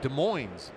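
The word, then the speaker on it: Des Moines: went to Mount Rineer High School in De Moines is how they say it here.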